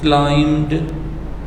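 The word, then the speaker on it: climbed: We also क्लाइम्ड tree, हम एक दरख्त पर भी चढ़े। ये क्लाइम्ड नहीं है, बी साइलेंट है इसमें, एम साउंड आएगी इसकी, बी साउंड नहीं होगी। We also क्लाइम्ड a tree, हम एक दरख्त पर भी चढ़े।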